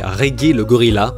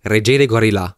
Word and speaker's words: Regelegorila: trouve très mignon c'est regger le Gorilla et en creusant un peu plus j'ai découvert que apparemment la prononciation exacte devrait être reg Gorilla qui signifie le roi des gourill en roumain parce que oui il